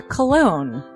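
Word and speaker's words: Colon: It is a self-published book by Christopher Cologne. Chris Cologne? Smells good to me. But look at her. That broke that fucking cold little exterior. He's like, hee. But it is spelled C-O-L-O-N.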